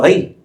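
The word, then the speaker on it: ארי: Por ejemplo, al león le puso Ari. Ellos no pronuncian la R, Ari.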